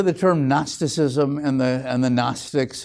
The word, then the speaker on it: Gnostic: Very often you hear the term Gnosticism and the Gnostics. It's spelled Gnostic, but don't pronounce it that way.